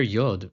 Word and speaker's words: Yod: And the letter YOD its pronunciation is a palatal approximate sounding like a /j/ as in 'yard'. You don't touch your teeth, tongue doesn't touch anything, it's just /j/ as in the word 'yard' or in the word 'yes'.